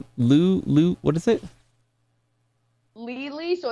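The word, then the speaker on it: Leelee: Spell it out one more time. You said Lou, what is it? Lily, so it's L-E-E-L-E-E, and Lily.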